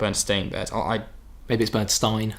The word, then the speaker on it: Berenstain: I don't remember this person so the it's the bernstein bears I don't know Bernstein depends stains if you're in the u.s. it was a Bernstein bears and parent is actually the Berenstain Bears I made this bird